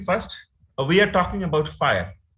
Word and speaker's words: FHIR: is called uh fire pronounced as fire but it's spelled as